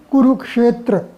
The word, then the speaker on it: कुरुक्षेत्र: शब्द कुरुक्षेत्र व कि कुरुक्षेत्र में बहुत सारे विद्यार्थी शिक्षा को अच्छा बोलते हैं कुरुक्षेत्र परसिद्ध है शुद्ध उच्चारण है कुरुक्षेत्र तो इस तरह से